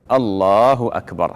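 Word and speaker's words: الله أكبر: en prolongeant le bas de Akbar. Et ceci est une erreur, car le sens change. Le takbir consiste à ce que tu dises. Allahu Akbar. Voici la manière de le prononcer.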